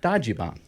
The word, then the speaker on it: Dajiban: You're the guy who knows everything about Dajiban.